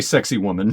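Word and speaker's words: Sacsayhuamán: pronounce it right sex just say sexy woman that's how everybody says it um it's one of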